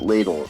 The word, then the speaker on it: Lidl: And I'm going to pronounce it lidle.